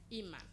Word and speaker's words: Iman: Iman, parce que ça donne imam quoi, donc il faut avoir une prononciation. Iman. Imam ou bien Iman? Iman. I-A-M. I-M-A-N. I-M-A-N, ça donne Iman.